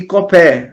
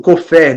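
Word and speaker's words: כֹּפֶר: redenção: Gaal, Padá e Kofer, ou Kofer, dependendo da pronúncia que queira utilizar.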